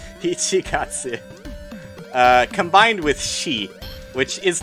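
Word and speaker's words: 一月: But yeah, so Ishigatsu combined with, or sorry, Ichi! Why am I saying Ishi? They're fucking with me, dude. It is a pun. Ichigatsu.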